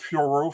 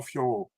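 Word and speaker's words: Fiorot: She's like Manon Fioro, Manon Fioro. She said it in French, you know. And they're like, oh, she said Fio. No, she said Fioro, but she's like she's French, so she has a French accent.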